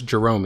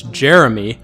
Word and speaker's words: Jerome: His name was Jerome, and it used to really piss me off when people would pronounce it as Jeremy, which, by the way,